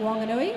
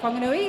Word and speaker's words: Whanganui: So they're made up of players from the Mataka, down the Hutt, Wanganui, or Whanganui, as it should be pronounced, Taranaki.